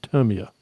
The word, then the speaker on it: Tamiya: in a chat, and she said that it's pronounced the way that they pronounce it in Japan is Tamiya.